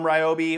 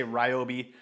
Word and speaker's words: Ryobi: is the new lineup from Ryobi or riobe however you say I always say Ryobi um because my dog's name is Riley with spelled with a r y and it's riy so uh but I think properly I know on some of their marketing material they say riob so whatever it is if